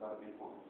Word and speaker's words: La Défense: It's pronounced La Défense.